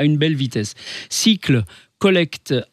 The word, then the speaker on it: Sikle: le fondateur de cycle alors cycle ça s'écrit s kle cycle les composteurs de Strasbourg